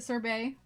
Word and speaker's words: sorbet: said sorbet i mean i don't pronounce the t see again english words